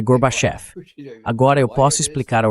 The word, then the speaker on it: Gorbachev: Então eu disse: "É fácil, senhor vice-presidente. Diga garbage." Ele diz garbage. Agora diga off. Off. Agora pronuncie off como a parte acentuada e diga tudo junto. Gorbchev. Você acertou, senhor vice-presidente. É Gorbachef.